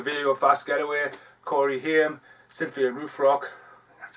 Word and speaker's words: Haim: Corey Haim, Cynthia Rothrock.